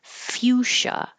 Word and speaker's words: fuchsia: And this could be a color, a bright pink, or it could be a type of flower, fuchsia.